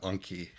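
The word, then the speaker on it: Enki: according to the audiobook these characters names are pronounced zuu and Anki um amazing uh um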